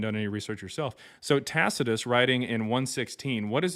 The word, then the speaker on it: Tacitus: Look at the historian Taka. That's not how you pronounce it. 17 AD. Okay. And and this shows that you haven't done any research yourself. So, Tacitus writing in 116, what does he uh what